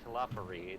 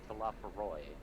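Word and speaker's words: Telophoroi: And Eddie's been mispronouncing it because it's not Talafari, it's Talafaroy. I know I'm really bad at pronouncing things, but I was sure about that one. Nope, because you actually do hear it. I know, and I felt like that's what I heard it. It's Talafaroy. Talafaroy.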